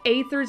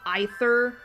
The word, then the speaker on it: Aether: Oh yeah, speaking of which, did I hear right that apparently Aether's name is not pronounced like that? It's pronounced Aether. which I'm like, what? That's not how you pronounce it. It is not Aether, it's Aether.